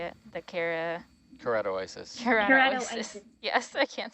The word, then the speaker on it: Keratoisis: The Keratoisis.